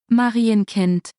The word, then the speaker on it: Marienkind: Marienkind. Marienkeen. That's how that's pronounced. Fake nets initialisieren. It is pronounced Marienkind.